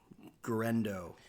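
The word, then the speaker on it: Guerendo: And Garendo. Am I pronouncing that right?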